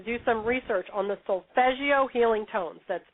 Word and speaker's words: Solfeggio: It's actually Italian and it's spelled It can be spelled with two S's. It sound like a G or G G I O.